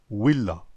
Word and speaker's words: villa: La lettre V des latins était prononcée OU. Villa était prononcée Willa.